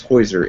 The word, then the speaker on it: Heusser: it's new for everybody my name is is hoiser h-e-u-s-s-e-r so your names are more pronounceable than mine but uh you've got five